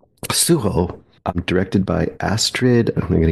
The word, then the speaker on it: Sujo: here this week is sujo see I said it wrong suo directed by ASD I'm